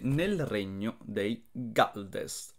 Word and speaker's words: Gjaldest: 9, nel regno dei Galdest o dei Gialdest. Come cazzo si pronuncia? So che mi avete detto che si pronuncia con la G dura, eh.